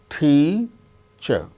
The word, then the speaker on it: teacher: is accented for instance the word teacher teacher so there are two syllables out of these two syllables the first syllable is a stressed that gains importance more importance than the other syllable that's why it is a stressed so that way how we should that word teacher not teacher some children they may say teacher teacher which is wrong that is to be